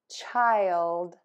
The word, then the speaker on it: child: Then touch the tip of your tongue to the back of your top front teeth of that L. Ooh. And then pull it down D, so that that air can puff out for the D.